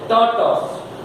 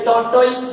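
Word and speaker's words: tortoise: इसमें are silent है, टॉ, और वो टॉइज नहीं है, टॉस है, टॉर्टॉस। याद रखना, इसका करेक्ट साउंड है टॉर्टॉस। समझ में आ गया? ये टॉर्टॉइस नहीं।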